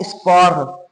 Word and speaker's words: sport: Okay, this that T is silent, right? Last letter consonants in French are silent.